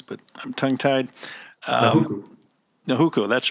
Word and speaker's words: Nahuku: Sorry for not pronouncing the native names, but I'm tongue-tied. Nahuku.